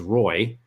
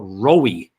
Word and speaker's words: Roy: I mean like you my first name is Roy it's one syllable there's only one person in the world that would ever make that a two- syllable word and it would be